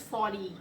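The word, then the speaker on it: Forty: And before, there is 40, there's 40, it's 40, it's 40 something. That's how it's pronounced.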